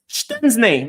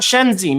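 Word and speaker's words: Szczęsny: see ala says Mo you're correct it's schen not shenzi my boss pronouncing to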